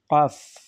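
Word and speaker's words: قاف: অর্থও আছে এটা হচ্ছে কাফ কাফ কণ্ঠনালী শেষ সীমানা থেকে উচ্চারিত হয় কাফ কাফের উপরে ফার মতোই কাফের উপরে দুইটা নুক্তা এটা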